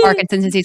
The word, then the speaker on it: Parkinson: Is that No, it's literally like Parkinson's.